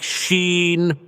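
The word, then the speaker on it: シーン: The Japanese word for silence is sin, pronounced more or less like sheen, with the sound trailing off at the end.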